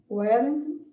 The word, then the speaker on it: were: E esse daí a gente tem que ler fechado. Were.